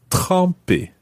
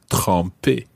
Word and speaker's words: tremper: And the reason for that is because there's another verb in French, and that's tremper.